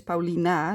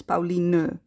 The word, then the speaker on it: Pauline: I'll repeat that for the people that think my name is Paulina. No, it's Pauline.